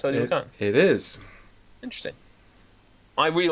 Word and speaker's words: Teotihuacan: Is that actually how it's pronounced? Teotihuacan.